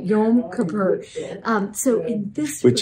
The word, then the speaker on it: Yom Kippur: Yom Kippur.